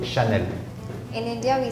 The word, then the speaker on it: Chanel: You said Chanel.